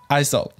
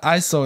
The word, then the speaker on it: ISO: So everyone just call this ISO, which is why ISO is actually not an acronym. It doesn't stand for anything. So you really shouldn't pronounce ISO as ISO. It is one word, ISO.